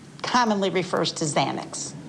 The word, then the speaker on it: Xanax: in the drug field, you know that people commonly think it's really spelled with a Z That's correct. because of the pronunciation. Yes. Okay. So a Z commonly refers to Xanax, Correct.